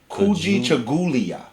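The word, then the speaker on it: Kujichagulia: Pronounce Ku Ji Cha Gu Li Ya. Kuji Chagulia. Kuji Gajulia.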